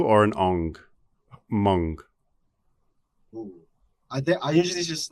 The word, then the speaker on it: Hmong: as Hmong, but you're saying how would you pronounce it properly? Hmong, with a U or an ong? Hmong.